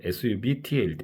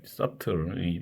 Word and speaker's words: subtle: 그 subtle b가 묵음이 되는 것이죠. 그래서 subtle 예문을 들어보면 they are